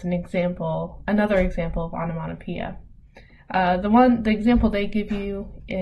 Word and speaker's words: onomatopoeia: This last one, onomatopoeia, that's how you pronounce this word here.